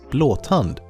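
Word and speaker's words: Blåtand: name Bluetooth is just an anglicization of the original Scandinavian spelling and pronunciation which is blon but why though that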